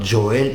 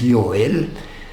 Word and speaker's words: Joel: are basically pronounced ER according to the German pronunciation so it's not Joel It's yel the letter J in